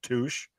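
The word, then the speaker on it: touché: I said it's pronounced Touche.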